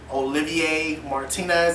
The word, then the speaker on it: Olivier Martinez: can't say long time fiance but her fiance olivier martinez i believe that's how you pronounce his name um he's a french actor